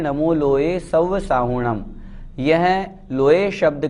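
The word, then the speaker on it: साहूणं: नमो लोए सव साहूणम, साहूणम में भी हु बड़ा है, इस बात का भी हमें ध्यान रखना है। साहूणम नहीं बोलना, साहूणम इस तरह से उच्चारण करना है।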